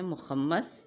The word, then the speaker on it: مخمس: نظم کی صورت میں، غزل، حمد، نعت، منقبت، مثنوی یا مخمس اور مسدس۔ مخمس یعنی اس تلفظ کو غور سے سنیں، مخمس، مسدس۔ دوسرے نمبر پر آتی